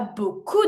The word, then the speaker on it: beaucoup: Il y a beaucoup de pollution. Beaucoup, finishing with a P, mute.